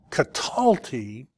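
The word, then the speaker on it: קָטַלְתִּי: And then katalti, accent on the second, katalti is I kill, but it doesn't, there's no differentiation if the I is a man or a woman.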